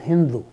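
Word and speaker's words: Sindhu: pronounce this as a Hindu somehow s is pronounced as H in Persian for whatever reason that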